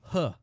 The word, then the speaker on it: He: And his name is Huh. That's how you pronounce his name, is Huh.